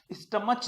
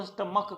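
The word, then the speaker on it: stomach: यहां ध्यान रखना है, सी एच का जो प्रोनाउंसिएशन आ रहा है वो क आ रहा है, स्टमच नहीं कहेंगे, इसको स्टमक कहेंगे।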